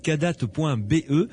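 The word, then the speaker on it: Kadath: nous écoutent, il suffit d'aller sur le site kadat.be. Alors Kadat, ça s'écrit K-A-D-A-T-H.be, comme Belgique évidemment.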